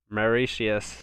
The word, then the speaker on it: Mauritius: Mauritius. So that's how you pronounce it.